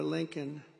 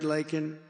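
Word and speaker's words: Laken: never call and then he pronounced her name wrong remember he called her Lincoln remember that in Congress he called her Lincoln didn't even have the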